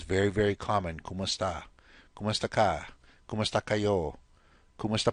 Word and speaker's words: kumusta: In this case, the como está was modified and pronounced as a Tagalog speaker would put it. Okay, and it's still in the language now. It's very, very common. Kumusta?